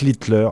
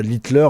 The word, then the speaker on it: Littler: Alors Luc Litler, attention, voilà, Litler, rien à voir avec l'homme qui a révolutionné l'histoire de la moustache. Ça s'écrit L I D L E R.